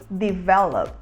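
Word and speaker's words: develop: é o verbo desenvolver e a gente fala de vela de vela é desenvolver e um exemplo de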